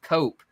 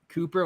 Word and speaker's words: Koop: we're two o's together it's pronounced cope instead of coop yeah appreciate it thanks